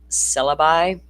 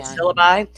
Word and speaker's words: syllabi: How do you pronounce that word? Syllabi. Syllab. Okay. Syllabi.